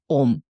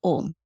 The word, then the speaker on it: Aum: It created with the energy, with the sound of Om. And it is Om which became transformed into what we understand as three syllables, A-U-M, which actually symbolize the power of creation, sustenance, and dissolution.